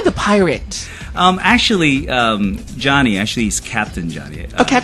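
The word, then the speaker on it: Deonie: you spell your name Johnny is here with us it's pronounced Johnny but you spell it how yeah well it's spelled D e o n i e and it's pronounced d o n i yeah so most locals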